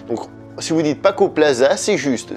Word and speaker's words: Plaza: si vous dites Paco Plaza, c'est juste. Ce qu'il ne faut pas faire, c'est le prononcer à l'italienne, c'est-à-dire Z. Par exemple, Paco Plaza, ça c'est faux.